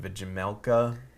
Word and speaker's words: Vejmelka: Vimelka.